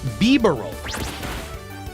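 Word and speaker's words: Bibarel: It's pronounced beaver roll.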